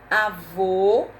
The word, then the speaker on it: avô: acento agudo no é avô o chapeuzinho do vovô porque o som é fechado avô diferente de avó